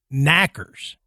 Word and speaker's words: knockers: Well, for the Cornish would I guess it's the pronunciation would say it would almost be like knackers.